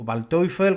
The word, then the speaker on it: Waldteufel: el menos conocido Waldteufel, o Waldteufel, como se pronuncia en alemán.